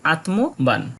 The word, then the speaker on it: আত্মবান: উচ্চারণ স্বতন্ত্রভাবে হয়ে থাকে প্রথম বর্ণগুলোর অর্ধেক উচ্চারণ হয়ে থাকে এবং শেষের বর্ণটার পুরো উচ্চারণ আমরা লক্ষ্য করি তাই এই শব্দটার সঠিক শুদ্ধ উচ্চারণ হবে আত্মবান আমরা চলে যাব এরপরের